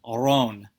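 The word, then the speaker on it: Roon: So the word for rune is spelled R-O-O-N, but it's pronounced Ron. Okay, Ron. Now the important thing with that is that O-O in English, we say oo, in Dutch you say O.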